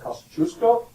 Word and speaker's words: Kosciuszko: It's a Kosciuszko Bridge. It's pronounced Kosciuszko.